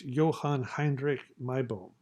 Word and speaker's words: Johann Heinrich Meibom: Note that the German pronunciation of this individual is Johann Heinrich Meibom.